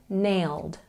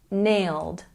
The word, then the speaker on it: nailed: let's check our pronunciation the e d ending makes the DU sound nailed nailed once again nailed these top 25 slang